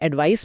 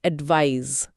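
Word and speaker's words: advise: और इसके उच्चारण में भी फर्क है। यह जेड की ध्वनि के साथ खत्म होता है। एडवाइस। एडवाइस Z sound.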